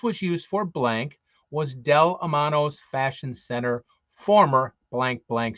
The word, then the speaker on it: Del Amo: for blank was in Del Amano Fashion Center Daddy's delamano is how you pronounce it Del Amano Fashion